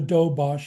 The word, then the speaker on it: doberge: And this is also called a dobosh, even though it's written as doberge.